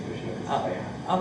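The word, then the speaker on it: יהושע: No, that's how they say it's Yoshua.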